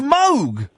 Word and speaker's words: Moog: The Moog synthesizer is actually pronounced Moog. I know. That's cuz it was his name and that's how you pronounce his name.